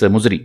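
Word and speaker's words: Muziris: This Muchiri is a different pronunciation of this Muzri.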